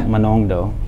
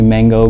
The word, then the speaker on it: Manongdo: It's Manongdo, right? Now, but I mean, it's easily to see it for us, as Filipinos. But I would be called Mango growing up in school. My PE teacher would say. He always said it that way.